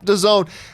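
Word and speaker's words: DAZN: Netflix because the selection is better 2019 Americans used VPN to hack into Canadian to zone because of NFL yep the zone and to zone and that's how it's I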